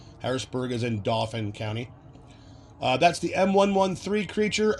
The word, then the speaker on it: Dauphin: Pretty sure it's pronounced Dauphin. At least that's how we pronounce it here in Pennsylvania. Harrisburg is in Dauphin County.